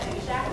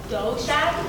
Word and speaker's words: Dough Shack: Oh, do you guys maybe want to get some pizza at Jew Shack later? Actually, it's pronounced dough shack, like pizza dough.